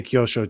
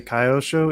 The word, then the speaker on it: Kyosho: to pronounce cure but I think I say Kyosho too I know some people say kaiosho and it makes me itch yeah I like uh